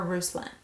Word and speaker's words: Ruslan: Now, I can see this being pronounced Ruslan or Ruslan. It's Ruslan.